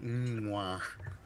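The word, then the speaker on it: Mgła: I like the way that you pronounce that. Mwah. I'm not gonna. Yeah, it sounds like you're like, mwah. Yeah, mwah.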